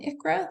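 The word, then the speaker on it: ICHRA: We refer to them as QSERA and ICRA. That's our phonetic spelling or phonetic pronunciation of these acronyms.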